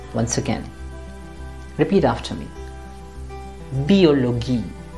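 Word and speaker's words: Biologie: in german it is always going to be pronounced as biology or this word in english it will be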